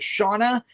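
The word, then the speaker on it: Seána: mom Sarah played by Shawna cursely I I think that's how you pronounce her name I did watch a YouTube Interview with her and the director and I heard her pronounced as Shauna yes she is Irish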